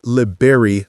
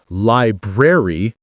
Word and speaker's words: library: Don't say liberry like the fruit berry. Don't say library dropping the first R. Say library or libraryar keeping both Rs but blending them smoothly.